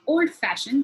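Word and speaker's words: old-fashioned: Likewise, well known and compound word like old fashioned, the f sound is stressed more. It's not old fashioned, it's old fashioned.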